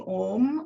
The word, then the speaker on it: om: three parts to it a which stands for creation you for sustenance and M for dissolution but it is as you know um uh pronounced as one word um I'm using om as a mantra opens